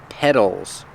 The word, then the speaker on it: petals: have these these are petals that's right we spell it with the t but it's pronounced with the fast d sound dead petals petals the